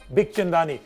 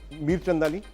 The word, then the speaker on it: Bikhchandani: What do most people do? What do they say? Mir Chandani. That's a very common one. Okay. Then Big Chandani.